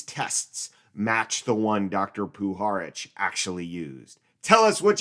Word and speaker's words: Puharich: Puharich.